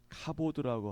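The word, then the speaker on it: כבוד: 영광 영광 광 어 굳이 뭐 히브리어로 발음하면은음 카보드라고 하거든요. 카보드 그것을 하나님의 영광이라고 하는데 하나님의 거룩한 권위 하나님의 거룩한 능력을 가르킵니다.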